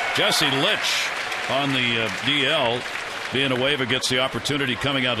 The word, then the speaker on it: Villanueva: And for those wondering, yes, his name is spelled Villanueva, but he does not pronounce it Villanueva.